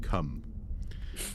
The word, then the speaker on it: Cwm: I kid you not, Cum. Yeah, I deliberately. Wait. How is it spelled though? Is it spelled CWM? Okay. CWM, Okay. Yeah, Cum.